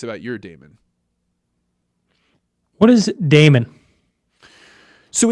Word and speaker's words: daemon: i am referring to i call it the damon there's a lot of different philosophers that have